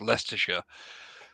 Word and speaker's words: Leicestershire: on the pedantic server as to how to pronounce leicestershire um well you've pronounced it correctly leicestershire yeah